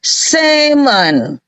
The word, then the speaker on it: salmon: ditambah Mon di sini salmon itu justru l-nya enggak boleh dibaca yang ini yang dielete dikorupsi yang ini jadi bacanya seman Kalau yang di sini